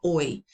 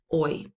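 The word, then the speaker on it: hoy: Oi. The H is silent. Oi.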